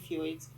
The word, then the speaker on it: fjords: So there's something called fjords, even though it's spelled FJORDS.